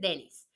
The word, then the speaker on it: Dennis: Y pues yo siempre he sabido que Denise en masculino se dice Dennis, ¿no? Como Dennis Rodman, por ejemplo, el basquetbolista y muchos otros que sé que si es en masculino, pues como que la pronunciación es Dennis.